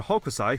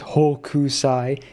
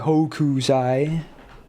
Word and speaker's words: Hokusai: pronounces her name as Hokusai. It's Hokusai. There's no, you don't pronounce the U, okay? It's like Hokusai. So I always have it's the nothing burger, but for every time, dude. It's not Hokusai.